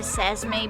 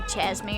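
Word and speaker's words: Çeşme: At least in Turkey, like we would say sesame, but it would actually be chesme, or alakati, but it would be alachadi.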